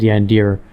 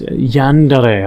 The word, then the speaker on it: Yandere: Asian sort of oriented sorry, I said Yandir, you know, deers. Yandere, I think is how people pronounce it.